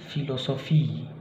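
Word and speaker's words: Philosophie: Dan ini cara pelafalannya adalah F. Misalnya pada kata fotograf, ya, fotograf. Kemudian filosofi, filosofi, ya, fotograf, filosofi. Good, saya harap kalian bisa untuk PH.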